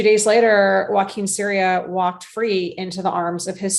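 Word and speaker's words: Joaquin Ciria: So that is, I guess, the long story of the exoneration of Joaquin Syria. And you pronounced his name perfectly.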